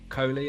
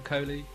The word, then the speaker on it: Kohli: So, Rahul Kohli, I think that's how you pronounce his second name, Kohli, as Reed.